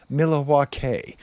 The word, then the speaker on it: Milwaukee: It's actually pronounced Milawa which is alangquin for the goodland.